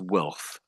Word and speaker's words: wealth: say the rest of it, it's then just wealth.